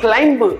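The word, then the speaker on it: climb: English में आप वही वर्ड आप देख रहे हैं, इसमें बी साइलेंट रहेगा. यू हैव टू से क्लाइंब. क्या बोलेंगे इंग्लिश में? डू not speak क्लाइंब, you have to से क्लाइंब.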